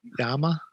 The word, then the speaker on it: llama: is this isn't that it's a double l and in spanish don't you say yama well i'm not i'm like german i'm just american i don't know i say llama you know i